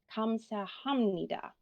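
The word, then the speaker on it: 감사합니다: results in an m so we do not pronounce this syllable as hub we actually pronounce it as hum so if we look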